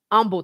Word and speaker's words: Humble: in Houston is in Umble Texas it's humble but the H is silent and sometimes that's why